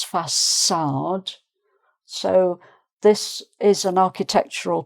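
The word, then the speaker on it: façade: Um is a French um thing uh to make the C sound like an S because if it wasn't there it would be fard but it's fad.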